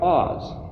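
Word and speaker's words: עז: dictionary is so helpful, ayin zayin is pronounced Oz. You could say like, oh, the Wizard of Oz.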